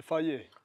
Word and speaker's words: Faye: Idag har vi med oss Faye som vi ska intervjua.